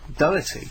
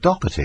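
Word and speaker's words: Doherty: I'm so glad you said Pete Doy because everyone insists on pronouncing it docky and it's not. Well, is it docky or is it? No, there's no C.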